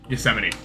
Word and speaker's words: Yosemite: Yosemite. I forgot that's how you pronounce it.